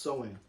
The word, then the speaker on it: Samhain: have been deceived in participating in, is called Samhain. Samhain. And it's spelled Samhain, but it's pronounced Samhain.